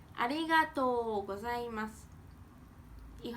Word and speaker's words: ありがとうございます: ありがとうございます。If I say it quick, ありがとうございます。Moving on to the casual way to say thank you.